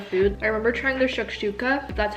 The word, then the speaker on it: shakshuka: and all their food i remember trying their shakshuka that's how you say it it's like the